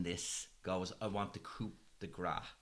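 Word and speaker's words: coup de grâce: Bill Skarsgård, being the coward he was in this, goes, I want the coup de grace. I hope I've pronounced that right. Coup de grace. Coup de grace. I was pronouncing the P.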